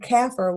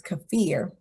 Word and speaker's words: kaffir: GFOA is the Government Finance Officers Association, and CAFR, which is the Comprehensive Annual Financial Report, and often referred to as CAFR in the accounting world.